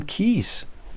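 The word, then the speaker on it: Keyes: £484 for five Maran key books Maran keys not key keys keys and another a bit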